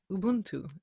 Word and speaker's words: Ubuntu: every single I love this idea of UB Ubuntu am I saying not weird yes you say